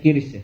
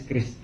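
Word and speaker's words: QRIS: Kalau teman-teman bacanya kiris ya? Kiris, ya apapun lah, kiris. Kalau saya kayak lebih praktis kris.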